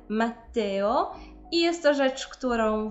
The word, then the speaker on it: Matteo: się z imieniem Matteo i nie Włochów częstym problemem jest wymawianie tego imienia jakby tam było jedno te i wtedy słyszymy Matteo natomiast mamy dwa ty które powinny być zaznaczone dlatego mamy Matteo i jest to rzecz